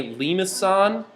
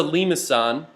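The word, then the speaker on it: limaçon: is lemons maybe uh this is called a limousine uh that's like a soft C actually um technically the symbol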